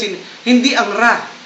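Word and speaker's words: ر: mabibigkas in hindi ang ra hindi katulad dito ng English kundi ra ra nakatusok siya sa taas tusok niyo ro Okay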